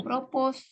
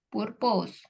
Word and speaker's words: propose: I will propose to Bukan propose. Bukan apa, bacanya Miss? bukan propose. Apa? Eh, pro- propose ya, Miss. Apa? Propose. Purpose.